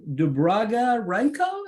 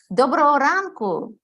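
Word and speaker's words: Доброго ранку: Shimon, and Dubraga Ranko, is that how you say it? In Ukrainian? Did I do it right? Dobro ranku, meaning Yes, good morning.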